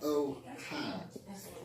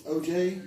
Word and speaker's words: Ojai: It's not like Ojai. It's Ojai. Ojai. Ojai. Just like on the hat.